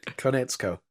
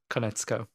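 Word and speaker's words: Konietzko: Konetsko. Konetsko.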